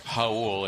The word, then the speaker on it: Raul: Again, it's Raul. It's spelled like the Spanish.